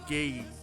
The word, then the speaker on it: Gage: Online, is Gabriel Gage. See the first the first sound of his words rhyme with game like Gabriel Gab Gabriel bro like come on out.